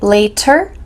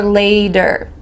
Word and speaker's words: later: Did you notice my pronunciation for the word later? Does it sound like later or later? Sounds like a D here. And this is common in American English that when you have a T with a vowel on